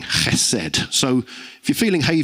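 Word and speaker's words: חסד: Hesed. And as with many Hebrew words, it's got that kind of hacking sound at the beginning, hesed.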